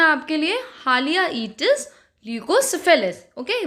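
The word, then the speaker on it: Haliaeetus leucocephalus: और अगर हम इसके जो साइंटिफिक नेम्स होते हैं उसकी बात करें सो इट is pronounced as हालियाइटिस ल्यूकोसेफेलस.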